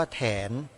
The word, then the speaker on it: แถน: นั้น มี ชื่อ ว่า แถน สระแอ ถ ถุง น หนู อ่าน ว่า แถน ชื่อ เต็ม ๆ ว่า